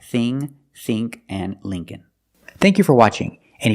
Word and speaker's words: Lincoln: e it's Lee link Lincoln Lincoln the second L is silent so it's link Lincoln remember the first syllable is